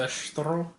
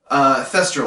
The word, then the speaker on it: thestral: Thestral, I believe, is how it's pronounced. Yep. I could be wrong, but Google Translate hasn't failed me yet. So, Thestral.